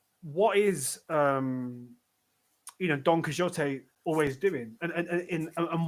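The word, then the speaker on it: Don Quixote: Um, well, it's a donote or donote or donquixot or you know, if you want to pronounce it in Argentinian Spanish, mainland Spanish or in the English way.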